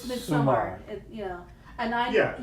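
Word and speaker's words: Midsomer: Midsummer. You know, and I Yeah, you need it's pronounced summer, like, oh, it's summertime.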